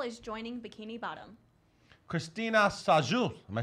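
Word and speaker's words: Sajous: -- Congratulations Jeremy Jordan --And a new squirrel is joining Bikini Bottom --Christina Sajou am I saying it right?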